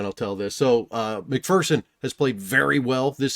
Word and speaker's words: McPherson: So McPherson has played very well this season.